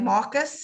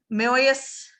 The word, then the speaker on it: Marius: Then you got Eddie Redmayne, who played Marcus. That's how I'm saying his name. I know it's pronounced a little bit different. Marius.